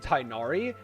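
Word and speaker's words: Tighnari: Tainari, and I think his name is supposed to be pronounced Tignari in, like, where it's from. But then when it's localized, they say Tainari because that makes more sense through localization. And it just is easier for people to say than, like, Tignari. I don't know how to say it. It's like, you have to do, like, a weird, like, roll on the I that I can't quite pull off. Tignari or something.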